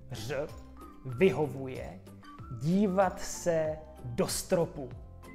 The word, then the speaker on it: ř: Nahrávejte se, poslouchejte a porovnávejte svoje ř s dalším ve stejném slově odrodilého mluvčího.